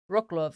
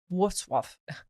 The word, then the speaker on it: Wrocław: And then some people try to say, oh, Wrocław. And that's not how you say it. It's like Wrocław.